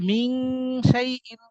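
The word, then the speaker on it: مِنْ شَيْءٍ: পড়তে হবে মিন শাইন কিভাবে মিন শাইন নুনের মধ্যে গুন্না করতে হবে আর নুনের এখানে আর দন্তন উচ্চারণ হবে না অনেকটা হবে উ এরকম মিন মিন বা এই যে এটাকে কি বলে নাম তো ভুলে গেছি এরকম এরকম উচ্চারণ হবে বুঝা গেছে মিন শাইন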